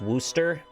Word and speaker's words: Worcester: to tell you that it's pronounced wooster worcester rather and it's